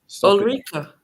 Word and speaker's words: Ulrika: Is it Eureka? Ulrika or Erika? Ulrika Johnson. Eureka. Ulrika. Is it Ulrika or what? Ulrika. Ulrika. Okay. I swear it's a Swedish name or something, so you can probably pronounce it.